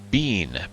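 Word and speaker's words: Benne: Bean, B-E-N-N-E, I believe is how you say that.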